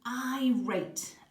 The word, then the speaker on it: irate: like you might pronounce it eh but it's pronounced irate and it's another synonym of the word indignant